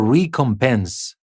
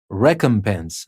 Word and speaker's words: recompense: As you noticed here, I didn't say renovate. It's not renovate or recompense. It's renovate, recompense. Sometimes it's re, sometimes it's re.